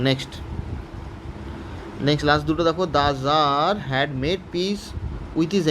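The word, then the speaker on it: Tsar: উচ্চারণটা জার was very glad to have made piece with his enemy, finish.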